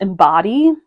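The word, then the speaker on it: Imbodhi: up 100% again it's I think it's pronounced embody but it's i m b o DHI and it was a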